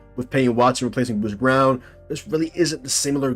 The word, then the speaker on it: Braun: It's spelled Braun, but it's pronounced Brown.